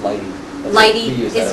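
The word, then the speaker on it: lighttpd: the light T the I never know how to say it I call it light httpd or some people about light tpd or something I just Lighty yeah that's true Lighty is is another way um um so it's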